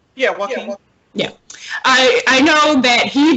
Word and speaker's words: Joaquin: But I know that Joaquin Phoenix, did I pronounce his name right? Yeah, Joaquin.